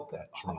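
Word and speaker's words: Patrón: My husband insists that Patron is pronounced with a soft O, but I say it's a hard O. Patron. Hard O. It is Patron.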